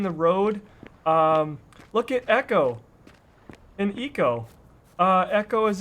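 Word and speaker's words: Ecko: glass case and, uh, it's echo. Echo. Uh, and it's spelled E C KO. And he needs to put a sign here. Uh, he'll put a sign back. We'll put a sign up that says it's Echo, not Eco.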